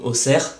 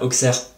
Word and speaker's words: Auxerre: Comme par exemple dans 60 en France, on ne va pas dire Soixante, ou même Auxerre, ça ne se prononce pas Auxerre.